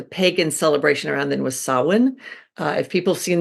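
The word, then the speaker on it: Samhain: celebration around then was saan uh if people have seen the word s m ha a i n that's pronounced saan it's not spelled at all like it sounds but that's um that's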